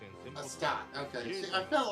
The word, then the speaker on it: Astarte: Astarte. Okay, see, I felt like I was pronouncing it incorrectly.